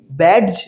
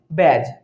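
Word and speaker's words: badge: যেমন বি এ ডি জি ই, ব্যাডজ নয়, ব্যাজ, পরিচয় চিহ্ন।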